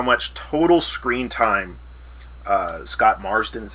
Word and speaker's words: Marsden: I actually tried to look this up, how much total screen time Scott Marsden, is how you pronounce his last name, got in the entire